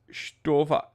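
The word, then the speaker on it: Stowa: He just texted me, it's Stova, you bigot. Stova, with a umlaut.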